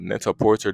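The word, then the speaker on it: Net-a-Porter: for like high fashion called Neta Porter pretty sure that's how you pronounce it not Neta Porte or something like that it launched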